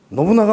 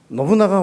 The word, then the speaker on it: 信長: みたさん今あの信長っておっしゃいましたけども信長にしてくださいとちょっとアクセントが違うらしいんですね分かりましたって言っ